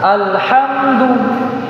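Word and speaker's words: الحمد: Ketika alif lam bertemu dengan huruf ha, maka dia dibaca izhar. Bagaimana cara bacanya? Ya, dibaca jelas. Alhamdu. Alhamdu. Ah, tidak boleh kemudian kita seakan-akan membaca dia idgham alhamdu.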